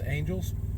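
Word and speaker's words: Angelle's: called that Angels Diner it's spelled a-n-g-e-l-l-e apostrophe s or whatever so I guess you could pronounce it Angela's but I'm pretty sure it's Angels anyways good place one exit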